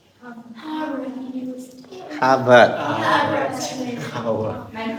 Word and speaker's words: Harvard: the top is now like Howard is the one, and also Ka- like to like Stanford, Howard. Howard, Harvard. Harvard University, Harvard. Harvard, man pronounce Harvard University, Harvard.